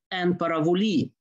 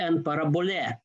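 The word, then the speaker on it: ἐν παραβολῇ: Secondly, why this quote representation is because of the use of this mysterious phrase en paravoli or en parabole in another pronunciation, translated here as figuratively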